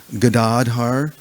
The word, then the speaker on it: Gadadhar: The word actually is Gadadhar. The second the second vowel is long. It's not Gadadhara, it's Gadadhar. So sometimes we get in